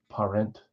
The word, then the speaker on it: Parent: with the other half I don't know if it's just straight up parent it's parent uh that's Philadelphia that's